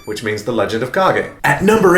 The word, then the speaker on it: Kage: used to call this game The Legend of Kage but as I got older I learned that it's correctly pronounced The Legend of cog eight as the Japanese name is kaki no densetsu